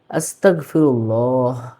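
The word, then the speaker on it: أستغفر الله: এটাও ভুল আস্তাগফিরুল্লাহ আস্তাগফিরুল্লাহ ভুল শুদ্ধটা কি হবে আস্তাগফিরুল্লাহ আস্তাগফিরুল্লাহ নিশ্চয়ই বিষয়টা বুঝতে পারছেন। এটা ক্ষমা চাওয়ার একটা অন্যতম শব্দ হচ্ছে এই আস্তাগফিরুল্লাহ।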